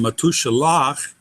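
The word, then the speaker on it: מתושלח: The final syllable in matushalach is lach, consonant vowel consonant.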